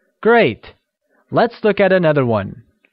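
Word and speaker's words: 晚: one Chun here again one is pronounced in the falling Rising tone meaning night and sh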